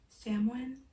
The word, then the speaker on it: Samhain: But the reason why it's on October 31st, because the I butchered this because it doesn't sound how it's spelled, to be honest. It's called Samhain, something like that.